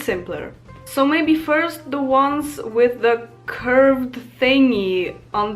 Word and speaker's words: ą: is quite different, because I feel like the A with the thingy is more similar to O, because it's on.